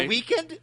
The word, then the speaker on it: The Weeknd: the weekend, but he's missing an E.